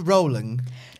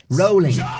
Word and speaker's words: Rowling: rolling mark Marone JK Rowling no believe it's pronounced rolling rolling you could tell me that William Shakespeare